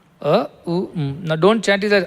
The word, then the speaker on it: Om: And now I will tell you that ‘OM’ is made of three things together. A-U-and Mmm. Not M. Mmm. A U Mmm.